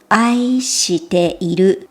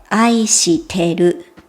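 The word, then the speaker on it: 愛してる: 話すときは少し発音が変わります。愛しているではなくて、愛してる。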